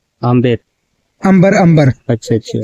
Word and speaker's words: अंबर: इसका रियल नाम है सर अंबर। आमेर अंबर। अंबर।